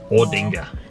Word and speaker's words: Aldinga: the way it's written aldinga and you guys don't do that we say or ordinger but it's a l right how is that oh we don't always pronounce it the way it's spelled it because yeah so